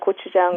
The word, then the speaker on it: gochujang: Gochujang. gochujang. Tang Yes. just means sauce, Gochujang. and Now- gochu means pepper.